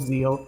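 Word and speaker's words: ZEXAL: introduced take these monsters it's yuio Zeal spelled with an X and then in between the E and the a yeah the other I don't think I've ever heard anyone speaking English about the series call it anything but zexel yeah because why would you no including when explicitly mentioning yeah they they insist that it's called Zeal no I won't be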